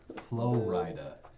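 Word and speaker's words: Flo Rida: It's spelled like Florida with a capital R. Flow Rida.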